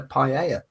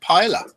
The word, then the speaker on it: paella: of people call it pa. Yeah, they do. You and I both know that two L's in Spanish is pronounced with a Y.